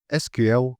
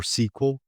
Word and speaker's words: SQL: SQL or sequel pronounce it however you want, both are correct, stands for structured query